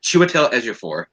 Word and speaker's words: Chiwetel Ejiofor: Chiwetel Ejiofor. And he even pronounced it right.